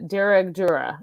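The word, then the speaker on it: Dearg Due: This is, I just want to get the pronunciation. So it's a female vampire and it's called the Durag Dura is how you say it.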